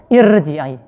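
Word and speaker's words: ارْجِعِي: Irji'a ini enggak dibaca tafkhim ya, tapi dibaca tarkik. Irji'i.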